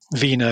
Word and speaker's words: Wiene: Caligari was directed by, I'm not sure the last name, is it Robert Wien or Wine or? Wiener. Wiener is how you pronounce it, yeah.